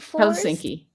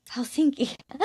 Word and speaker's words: Helsinki: Helsinki. Helsinki.